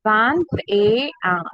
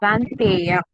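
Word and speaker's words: vingt et un: This ET is pronounced with the sound A. Okay, it is pronounced as A. ET, how we will pronounce? A. So we will pronounce it together. Vantea. Vantea.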